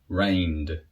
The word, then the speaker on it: rained: So to pronounce these words in the past, allow, allowed. Rain, rained.